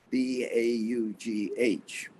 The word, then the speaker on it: Baugh: The last part of my name, B-A-U-G-H, is an odd combination of letters in English. It is. And it's pronounced Baugh, and it's like Kavanaugh.